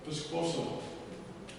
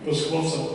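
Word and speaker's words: P'squosa: Piscosa. I wanted to know how to say it properly. Thank you. Piscosa, yeah.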